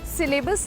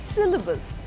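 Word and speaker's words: syllabus: हम इंग्लिश के वर्ड्स को हिंदी में कैसे प्रोनाउंस करना शुरू कर देते हैं? Stay cute but एस Y double A बी यू एस सिलेबस नहीं होता है। सिलेबस इट्स सिलेबस।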